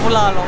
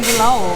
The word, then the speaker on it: bulalo: So And hopefully Let's by the end of the video, Michael is gonna learn how to properly pronounce bulalo. Bulalo. Bulalao, Lao, Bulalo. Bulalao, Oh, I was saying bulao, but it's bulala.